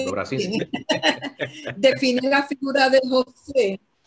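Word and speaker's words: Dobraczyński: que un escritor polaco, yo no sé si lo voy a pronunciar bien, Jan Dobraszczyk, no sé si es así que se pronuncia. Todos terminan en Sinsky. Dobraczynski. Okay. Exacto, Dobraczynski.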